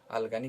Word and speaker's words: अलगनी: कपड़े टांगने का जगह होता है उसको हम अलगनी कहते हैं और गलती से लोग इस शब्द का उच्चारण करते हैं जो कि सही नहीं सब्सक्राइब